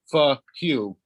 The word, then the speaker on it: PHUQ: It's PHUQ, and I've been told, yes, it is pronounced FQ.